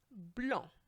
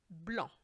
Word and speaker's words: blanc: Blanc. As you can see, or as you can hear, I should say, the C is silent. Blanc.